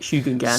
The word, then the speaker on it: Shugengan: I've said it a lot of times on Well, I think that's how the voiceover in Total War says it, Shugungan. Sweet. I've probably pronounced it wrong 50 times then. I've been saying Shugengan, I think.